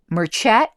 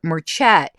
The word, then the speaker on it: merchet: I decided to pursue another trail that caught my eye, and that word is merchet. Pronounced something like merchant. Merchet, though, I think that's correct.